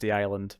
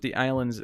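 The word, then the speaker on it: The I-Land: I imagine it's probably just pronounced The Island, but I'm emphasizing it.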